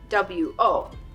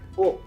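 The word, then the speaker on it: を: わ、 There is also this hiragana wo, which is sometimes romanized as wo, but it is pronounced as o.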